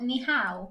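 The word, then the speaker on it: 你好: Ni hao. Ni hao. Are you sure? Yeah, because I googled the pronunciation.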